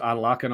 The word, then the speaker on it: Adelakun: Okay, we've got the pronunciation as Cannon just puts it out, and it goes to Adelakun on a throw-in.